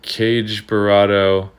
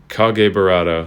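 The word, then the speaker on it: Kage Burado: if you're still saying cage burrado or anything else just so you know that's the wrong way to pronounce it it is officially pronounced based on japanese culture i guess kage burrado so if i can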